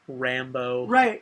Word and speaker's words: Rambo: Rambo. Right? And spelled with an O, not like E-A-U, like a French, like Creole name.